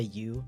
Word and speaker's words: Ü: Technically, it's pronounced u, but definitely feel free to say you.